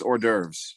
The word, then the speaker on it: hors d'oeuvres: It's HORS though. Yeah, I know the S is silent. It's hors d'oeuvres.